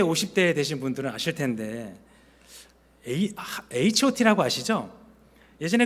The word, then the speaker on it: H.O.T: 네, 핫이라고 하지 말고 H.O.T라고 읽어라.